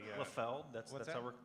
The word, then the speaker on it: Liefeld: It's a Liefeld. Liefeld. That's how we're pronouncing that now.